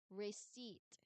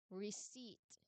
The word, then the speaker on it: receipt: e i, we also talked, but the letter p t was also talked about, but the letter p, where is it? It's not um included in the sounds because the letter p as mentioned here is silent.